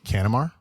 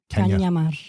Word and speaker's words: Cañamar: So the N has a tilde, A tilde. Okay. and that makes it ñ. So it's Caña. Cañamar.